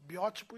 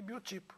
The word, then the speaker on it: biótipo: É aquela história das palavras com dupla pronúncia. Nós temos, por exemplo, biótipo e biotipo, necrópsia e necropsia.